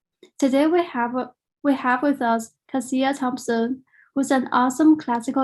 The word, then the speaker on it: Cassia: And just really quickly, my name is pronounced Cassia. So emphasis on the first. It's a common thing people do. It happens all the time. It's Cassia, but I would say words have always been my first love.